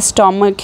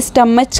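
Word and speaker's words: stomach: की तरह होता हो, मतलब कि जैसे स्टोमक है, हम वहाँ पर क बोलते हैं, कभी भी हम पेट के लिए स्टमच का यूज़ नहीं करते, स्टमक का यूज़ करते हैं, तो एंड में क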